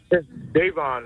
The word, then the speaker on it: Davon: Davon is how you pronounce it.